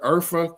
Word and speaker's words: Urfa: So if you want to know where Urfa come from, if you're saying that so the ORHAI, right? It's pronounced as Urfa.